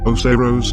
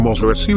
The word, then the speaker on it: Oceiros: So, taking that into account, the correct pronunciation would be as Osiros, and Osiros is actually